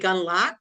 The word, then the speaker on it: Gundlach: Hello, this is with Building Healthier Communities, and I'm really excited to have Jeremy is it Gunlock, or is that how you say it?